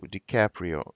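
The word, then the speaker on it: DiCaprio: здоровья дикаприо и капли ди каприо вот ну фамилия итальянская то есть можно ее как хочет рассказать дикаприо и не как бы в принципе не обязательно на английский манер произносить как правильно ди каприо но иногда вы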